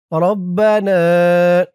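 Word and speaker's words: رَبَّنَا: রব্বানা রবা রব্বা জবরবা রব্বা নুন আলিফ জবর না রব্বানা।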